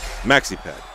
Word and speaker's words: Max E. Pad: Maxi pad. Yes, I know. It rhymes with taxi cab.